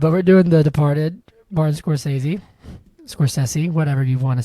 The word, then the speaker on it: Scorsese: heard that before I always say Martin Scorsese who says Martin Score says I've heard videos like on YouTube saying Martin Scorsese I'm like that sounds wrong it feels wrong you know people will